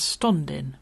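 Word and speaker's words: stondyn: alone is spelt s-t-o-n-d-y-n so not so much standing as stundin blue moon you left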